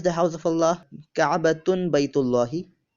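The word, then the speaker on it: بيت الله: Ka'batun Baytullahi. Ka'batun Baytu Allahi, or pronounced as Ka'batun Baytullahi.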